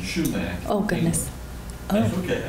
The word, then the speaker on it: sumac: y yes um the poison sumac yeah I think is pronounced poison schumac oh goodness that's okay